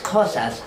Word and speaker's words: Xhosa: And we as Xhosas are known for the click in the language. Xhosa is spelled with an X, and the X is pronounced similar to how you push on your horse.